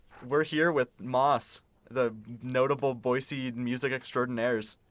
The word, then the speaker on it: MÔS: we're here with Moss, the notable Boise music extraordinaires, for the first episode of BUMcast. First things first, how do you guys say your band name? Moss.